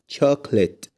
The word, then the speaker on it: chocolate: chocolate. chocolate. الكلمة التانية اسمها business. business. جرب تنطق الكلمة التالتة كده لوحدك وشوف هتنطقها ازاي.